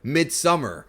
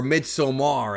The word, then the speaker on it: Midsommar: I expected Parasite to be a movie like Midsummer, or Midsommar, as people are now saying it's pronounced.